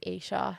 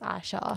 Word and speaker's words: Isa: Like I think so my first name is Isa and people often pronounce it as Aisha.